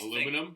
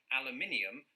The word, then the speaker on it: aluminum: Now here's Aluminum? the thing. I pronounce this aluminum because it's spelled aluminum. Yeah. But if it was spelled the British way, aluminium, I would pronounce it thus.